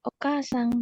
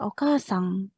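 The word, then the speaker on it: お母さん: Eh, Sensi mohon maaf kayak ukasang gitu ya. Iya, okasang kan bukan ukasan kan?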